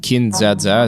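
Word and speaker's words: Kin-dza-dza!: was just rewatching bits of what is it kin zazza is how you say it cool and it's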